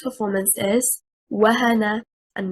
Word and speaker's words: وهن: The word wahana, stressing on the first haraka, harakatil waw, is one word, meaning to weaken. A past tense verb. If we stress on the second haraka, harakatil ha, and we say wahana, what will happen? The incorrect performance leads to separate the word into two, and it becomes a